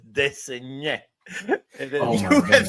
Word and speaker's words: Desnoyers: It's spelled Desnoyers. So De Saunier.